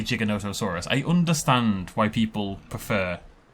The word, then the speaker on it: Giganotosaurus: the discoverer of the Giga calls it and pronounces it Giganotosaurus. So to me, that seems like the right way to do it. I feel like it's more respectful of the original paleontologist to call it Giganotosaurus, because that's how he pronounced it, and that's